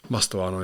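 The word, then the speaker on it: Mastantuono: Obviously, Real Madrid signing that Mastuando. Is that how you say his name? Mastuano, yeah.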